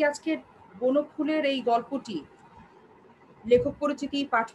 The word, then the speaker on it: বনফুল: হবে ফুল বলবো না আমরা আমরা বলবো ফুল বনফুল আচ্ছা সঠিক উচ্চারণ হচ্ছে ফুল তো যারা বলছো নিমগাছ বনফুল